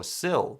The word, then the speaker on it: Siley: He called for a fair catch, muffed the punt, and Siley ended up recovering it for the Philadelphia Stars. Oh, Sill. That's how you pronounce his last name.